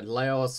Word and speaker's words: Laos: Indonesia or Thailand or Laos or I know I think technically it's pronounced Lao actually I'm not yeah well